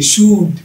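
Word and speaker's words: should: শুড এ শেষ, ও ইউ এল ডি শুড, শুড না হয়। Half, H এ এল এফ, এল এর উচ্চারণ বাদ, এইচ এ এল F half.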